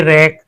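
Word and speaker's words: wreck: यहां भी हमारा डब्ल्यू साइलेंट है। क्योंकि इसके पहले [गला साफ़ करने की आवाज़] यहां भी हम इसके बाद आर आर आया है ना? तो इसलिए हमारा डब्ल्यू साइलेंट है। Right play right रेक।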